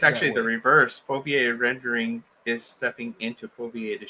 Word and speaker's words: foveated: And I think that the foveated rendering would be, I mean, if foveated, am I saying it correctly? Foveated? Yeah, foveated. Okay.